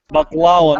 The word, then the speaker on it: baklawa: Baklawa. No. No. It's pronounced baklawa. Baklawa. That's Middle Eastern.